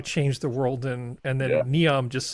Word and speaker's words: Neom: And so in this anime, we've got Brasilia sitting around being chill, and then how do you pronounce this? Noem? Neom.